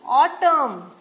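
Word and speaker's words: autumn: should could उड नाउ इसमें N silent है हिम ऑटम कॉलम पटन है तो आप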